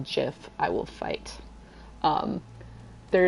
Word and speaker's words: GIF: gifs that they put out and yes it's pronounced jiff i will fight um there is one of